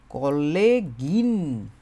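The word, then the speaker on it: Kollegin: যে অংশটুকু, এটার সাথে ই এন জার্মান ভাষায় বলে, আর ইংরেজিতে বলে আই এন, কি হয়ে যাচ্ছে তখন, কলেগিন। কলেগিন এরকম হয়ে যাচ্ছে উচ্চারণটা, ঠিক আছে।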